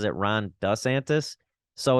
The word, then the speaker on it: DeSantis: Sometimes he pronounces it Ron DeSantis. Sometimes he pronounces it Ron DeSantis. So it's a little weird. If we're going like proper Italian, it would be more DeSantis.